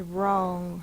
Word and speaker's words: wrong: way in one box the word is wrong R is spelled w r a like s sing